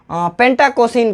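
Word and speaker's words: pentacosane: पेंटाकोसिन का, यानी मोमबत्ती का फॉर्मूला ये हुआ पेंटाकोसिन, है ना।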